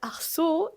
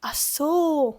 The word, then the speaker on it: ach so: are variations is because they don't always pronounce the CH so hard. They don't always say Achso. A lot of times it's just Achso, like just Achso.